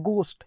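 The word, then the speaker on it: ghost: एक डीमन होता है, भूत होता है, घोस्ट, जिसको बोलते हैं गोस्ट। ये एच साइलेंट है इसमें ना, गोस्ट बोलना, घोस्ट नहीं, गोस्ट, है ना।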